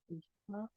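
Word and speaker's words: יום: Yom. Yom, Ah, c'est Yom, tout Yom. simplement Yom. Yom. Yom. Yom. Ouais. Donc ici, on n'a pas de voyelle sous le yod, mais on va quand même prononcer yom, Yom.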